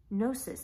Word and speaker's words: gnosis: was no --ss G in O s is gnosis that was that practical knowledge that's kind of